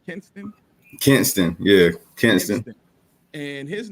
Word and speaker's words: Kinston: You have another young man and I always keep saying this name wrong, so forgive me, y'all. It is called Kinston, correct? Kinston, Yeah, Kinston.